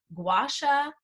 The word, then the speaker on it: Gua Sha: is self-care at home everything Chinese medicine anti-aging gwasha that's I pronounced it right right rollers and we are